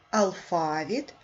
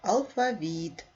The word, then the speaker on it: алфавіт: склади напишіть слово алфавіт слово алфавіт можна наголошувати на другий склад алфавіт а можна наголошувати на третє склад алфавіт поставте наголос словах алфавіт